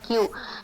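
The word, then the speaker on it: queue: And suppose the word Q, Q-U-E-U-E, okay, this is a word. They will say Q. Okay, if it is Hindi or some other language, they will try to pronounce it as, like whatever the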